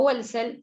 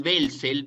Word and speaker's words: Welzel: Que yo digo Abigail Welzel porque la W en alemán se pronuncia B, o sea, se ve como una B corta, digamos.